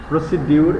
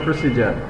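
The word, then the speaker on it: procedure: প্রসিডিউর এই উচ্চারণটা আসলে এরকম না, এটা হলো প্রসিজার।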